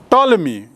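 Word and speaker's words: Ptolemy: हम भूमिका निभाती है ताल्मी एक नाम आता है सामने ताल्मी इसका अंग्रेजी में इसकी स्पेलिंग थोड़ी अलग है पी से शुरू होती है ग्रंथ लिखा और यह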